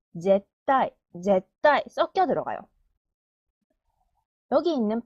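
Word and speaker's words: ぜったい: 자으 시 자시 자시 절대는 제을 타이 제따 제따 타 행이 뒤에 오죠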